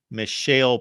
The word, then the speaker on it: Mishael: as you mentioned there Michelle Powell I believe is how you would pronounce his first name 38 tackles two and